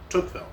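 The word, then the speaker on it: Tocqueville: So, um, so Toqueville is spelled T O C q U E V I L L E. Toukville.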